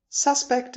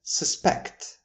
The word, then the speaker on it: suspect: suspect and suspect. By now you have probably noticed the safe generalization that if we are stressing the first syllable, then we have a noun form. And if we're stressing the second syllable, we usually have a verb.